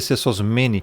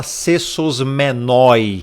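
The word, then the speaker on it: σεσωσμένοι: Aqui, ó, este cessos men. E não se fala cessosmenoi. Não existe cessosmenoi. Cessosmene na pronuncia, porque aqui tem um um ditongo.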